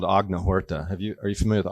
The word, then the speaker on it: Agnihotra: And so I was really studying this process called Agnihotra. Are you familiar with Agnihotra? Agnihotra.